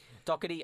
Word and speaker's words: Doherty: I've been looking at that name for ages, trying to figure out how to pronounce it. Thank you for saying it. That's okay. Doherty.